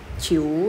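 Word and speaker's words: 九: Ini huruf J ya, teman-teman. J dibacanya dia kayak C ya. Nah, ini dia ketemu vokal I sama U ya kebetulan. Ciu nadanya 3.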